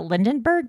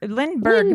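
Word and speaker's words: Lindbergh: what is it the how do you pronounce it the lindenberg baby the lindenberg baby the lind Lindberg baby Lindberg lber Charles Lindberg yeah so uh what really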